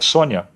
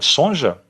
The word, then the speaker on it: Sonja: origem polonesa e ucraniana Daí vem a pronúncia do seu nome escrito com J mas pronunciado com i portanto Red Sonia a pronúncia Red Sonja é errada uma vez que o J tem som de i em seu idioma de origem ela lutava contra o